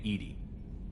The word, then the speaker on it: EDI: airlock is a jar why are you named Edie Ed is the phonetic pronunciation of Ed I that is an acronym